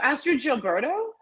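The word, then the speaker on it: Astrud Gilberto: was saying uh The Girl From Ipanema oh ask your Gilberto yes how did you know that the proper pronunciation I used to love that song I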